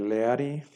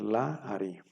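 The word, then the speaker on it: לַאֲרִי: transformar en un pataj entonces en lugar de leari Ahora va a ser la Ari son las mismas reglas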